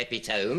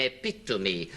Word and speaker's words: epitome: You don't say epitome. You don't say pennylope. All the Greek derivatives sound their final e. You say penelopey and epitome and syndrome.